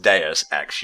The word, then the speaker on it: Deus Ex: Was it Deus Ex, did you say? Yeah, it was Deus Ex, sorry. No, I believe it's pronounced Deus Ex, you fucking pleb.